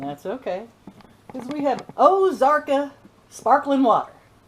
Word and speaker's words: Ozarka: Because we have Ozarka sparkling water. That's how they say it around here. Ozarky sparkling water.